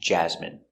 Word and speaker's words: jasmine: Example, medicine, margarine, intestine, genuine, famine, and jasmine. Let's take a closer look. Our first example, medicine.